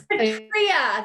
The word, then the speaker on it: Petria: It was Petria, there we go.